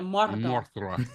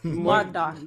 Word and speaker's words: Mordor: So yeah, like you gotta roll your R's. yeah, Mordor. Mordor.